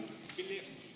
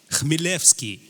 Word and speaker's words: Chmielewski: How do you pronounce it? Chmielewski. Right. So say it out. Chmielewski.